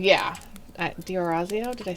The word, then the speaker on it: D'Orazio: and it says that it is pronounced just like it's spelled. So it's yes, That's the pronunciation. Diorazio, yeah. Diorazio, did I say that right?